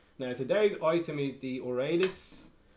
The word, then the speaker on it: Aurelis: today's item is the Aurelius or you could pronounce it or Ellis it's a one-handed sword